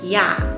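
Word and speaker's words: ㅑ: vowel ah and then for this one it's going to be ya so it's kind of like y a yeah the next pair is going to be all and y'all so here they look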